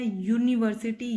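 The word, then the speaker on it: university: जैसे हम यूनिवर्सिटी को जब प्रोनाउंस करते हैं हम उसको बोलते हैं यूनिवर्सिटी, यानी आवाज़ आ रही है या की, और यह जो है वो कोई वोवल नहीं है, कॉन्सोनेंट है, इसलिए हमने इससे पहले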